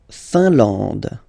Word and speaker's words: Finlande: La Finlande. IN here, nasal, un, AN, nasal, en, and then D, final E, not pronounced.